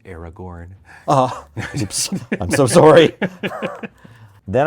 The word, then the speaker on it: Aragorn: and gain vigilance until end of turn it's pronounced Aragorn oh I'm so sorry then I want to